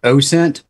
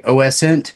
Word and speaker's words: OSINT: open source intelligence i i do subscribe to the train of thought that it is pronounced ocean but i have heard people say oscent yeah because when i